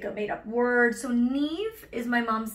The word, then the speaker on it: Niamh: So Neve is my mom's name. Mm-hmm. It's pronounced N-E-V-E, like rhymes with Steve, mm-hmm.